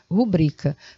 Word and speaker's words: rubrica: sílabas você tem isso a palavra não tem acento ela é assim rubrica porque bri é a sílaba tônica palavra paroxítona rubrica para que você